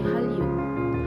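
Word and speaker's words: 한류: Nah Hanyu ini dia bacanya bukan Hanyu ya teman-teman, tapi Hallyu, Hallyu gitu ya. Karena kalau misalkan Nien berjumpa dengan huruf real, maka dia dibacanya L.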